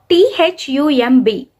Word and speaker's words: thumb: for example the word t h u m b we are writing it as t h u m b but how do we pronounce it there b is silent we pronounce it as